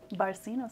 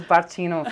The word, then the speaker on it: Barcino: store might have seen we've had the barcino barceno see she's been coaching me i was calling this bartino for like four weeks and then she's